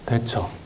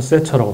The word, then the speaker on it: 대처: 그리고 그 같은 시대 영국에는 대처, 요새는 세처라고 발음합니다만, 세처 수상이 레이건과 함께 유럽 사회에서 본격적으로 신자유주의를 출범시킨 두 지도자입니다.